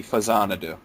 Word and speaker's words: Faxanadu: till way later that it's supposed to be Fazanadu. Famicom Xanadu. Yeah, and it makes perfect sense once it's explained. Yeah. But if somebody says Faxanadu, I'm not going to be like, you idiot!